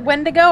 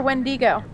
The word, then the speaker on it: wendigo: wendigos wendigos yeah oh there's two pronunciations you can either pronounce it when to go or wheny go they're both B on